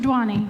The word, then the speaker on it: Duany: never ends well and Mr dwan am my pronouncing that right Mr dwan yes you I do have